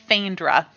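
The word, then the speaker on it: Faendra: her name again uh it is fandra they spelled like faye and they n-d-r-a okay thank you so much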